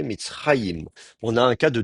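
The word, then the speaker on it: מצרים: Et là encore, il faut noter quand c'est pas la dernière syllabe qui est accentuée, Mitzraïm.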